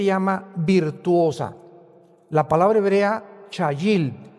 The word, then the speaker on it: chayil: La palabra hebrea chayil. C h a y i l en el hebreo. Chayil.